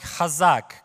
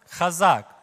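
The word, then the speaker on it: חזק: this this morning so the word strong it sounds like khazak can you repeat after me khazak can you do it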